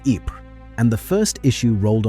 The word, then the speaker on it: Ypres: They called it the Wipers Times, after the soldiers' pronunciation of Ypres, and the first issue